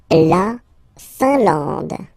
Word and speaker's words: Finlande: La Finlande. I-N here, nasal, un, A-N, nasal, en, and then D, final E, not pronounced.